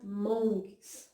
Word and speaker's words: Hmong: está assim, monges, mas tem um H na frente, né, mas a gente sabe que o H ele tem um som mudo, então a gente pronuncia monges, né.